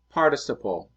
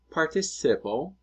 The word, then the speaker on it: participle: El participio pasado significa en inglés past participle. It's not participle, it's participle, with emphasis on the very first syllable.